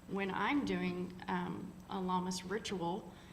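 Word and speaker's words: Lughnasadh: so next we have llamas lunaa depending on who you are and who you if You' like to pronounce it or not all those fun Celtic words are kind of not necessarily written the way they're pronounced so a lot of us call it llamas um it's a reflection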